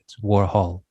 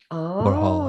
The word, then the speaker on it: Warhol: I think that was actually Ken Scott, the producer, was introducing the song, and he mispronounced Warhol And so David Bowie Oh. corrects him. He's just like, it's Warhol. Warhol.